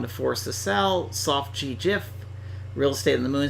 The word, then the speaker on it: GIF: yes choosy developers choose Jiff well I do support Jeff and you know the guy who created GIF says it's pronounced Jiff so the voice of